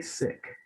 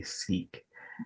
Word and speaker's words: Sikh: weeks leading up to this is you say sick and i know growing up a lot of people would say seek and so i just wanted to know you